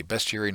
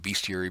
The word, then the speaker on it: Bestiary: Yes, I do say Bestiary, not Bestiary, because it's not spelled BEA.